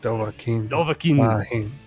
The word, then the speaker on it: Dovahkiin: I had to look up the pronunciation. Dovahkiin.